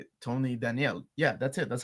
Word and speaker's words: Daniel: So, I went back and looked at an interview and yeah, he pronounces it that way.